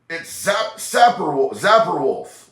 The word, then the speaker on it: Zapperwolf: Shane said, it's Zapper Wolf, like Bug Zapper.